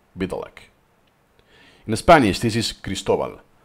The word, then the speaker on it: Biedalak: but basically is "K St K St B" Biedalak in Spanish this is "Cristobal" it's a lot easier to pronounce. Let's play it again! Krzysztof Biedalak. "Bee-Dah-lak" So the "e" is not pronounce, it's kind